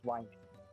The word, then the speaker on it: Wymage: Quick question, have I been actually pronouncing your last name correctly? It's Wymage. Wymage? You kind of cut out when you were pronouncing it. Oh. Wymage is the last name.